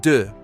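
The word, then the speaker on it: dix: Number 10 is d like de's.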